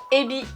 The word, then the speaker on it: ebi: Règle numéro 1, le H, on l'expire. En japonais, c'est comme en anglais. Hello, hi, il faut qu'il y ait de l'air qui sort de ta bouche. Tu peux prendre ta main, la mettre devant, il faut qu'il y ait de l'air chaud qui sorte. Ha. Il y a une grosse différence en japonais entre ebi, la crevette, et hebi, le serpent.